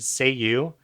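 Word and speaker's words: Cei-U: He's got this genie that exists in this magic pink pen, and when he says the word "say you," which is actually spelled like CEIYU, it's like a Hmm.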